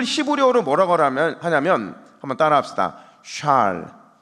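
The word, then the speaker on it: שאל: 샬. 발음을 좀 명확하게.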